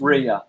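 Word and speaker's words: Rhea: Um it's spelled it's spelled like this. It's actually spelled with a H. Okay. That's Ria.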